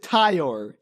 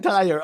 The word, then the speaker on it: Ty: I thought it was Tyler for half the movie. I'm like, and then I heard Caitlyn tell me, "Why is Caitlyn saying the name wrong?" I'm like, "Oh, wait. No, wait. It's Ty."